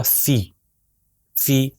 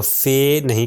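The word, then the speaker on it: فِ: اس کا تلفظ ہوگا فی، فی۔ ٹھیک ہے، اس کو فے نہیں کہیں گے بلکہ کہیں گے فی۔ تو یہ ابھی تک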